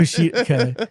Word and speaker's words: Kushida: It's like a cheetah. Yeah, it's That's how you say Kushida. Kushida, like Takeshita.